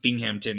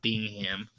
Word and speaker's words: Binghamton: I just realized, yeah, this is pronounced Binghamton, not Bingham.